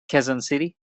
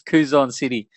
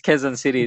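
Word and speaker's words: Quezon City: Um, which um is at Quzon City. Did I pronounce that right, man? Kzon City. Yes. Thank you, J. I used to say it the Australian way, which is Kuzon City, but now I know it's Kzon City.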